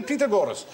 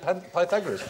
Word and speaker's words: Pythagoras: He said, go, you've got to ask your mathematics teacher, you must do the Pythagoras.